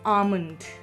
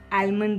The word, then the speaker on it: almond: यस, इट्स आमंड, आलमंड नहीं है। इसलिए कभी भी इसको किसी के सामने आप आलमंड मत बोलिएगा, आमंड, L साइलेंट है।